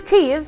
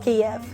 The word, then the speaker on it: Kyiv: with Ukraine's capital K so it's Kev and definitely not KV I know the sound could be quite hard for non Ukrainian speaker so let's break it down you take K from Kiss ye from ye and V okay there we